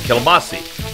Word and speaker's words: kielbasa: When I was a kid growing up, of course, they didn't call it kielbasa. They pronounced it kielbasi.